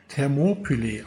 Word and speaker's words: Thermopylae: Ich habe allerdings mal im Internet recherchiert, weil mir die Aussprache doch etwas seltsam vorkam und es wird wahrscheinlich Thermopylae ausgesprochen.